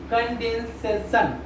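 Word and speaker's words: condescension: अब सिनोनिम्स, अब वर्ड क्या दिया है, अब इसको क्या पढ़ेंगे, कंडेंसेशन, कंडेंसेशन, कंडेंसेशन। इसको ये प्रोनाउंसिएशन क्या हो जाएगा, कंडेंसेशन।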